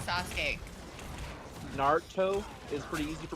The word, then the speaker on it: Sasuke: Uh, anytime someone's name Sasuk. Oh my god, I hate when people mispronounce Sasuke.